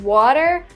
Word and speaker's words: water: We don't pronounce the T as an R.